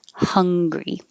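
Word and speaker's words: Hungary: 31 is hungry and americans pronounce the name of the country the same as the feeling of hungry so the vowel is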